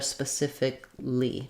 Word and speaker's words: specifically: later in the word it can really help to start on that stressed syllable that would sound like saying civically specifically can kind of help you get that rhythm of this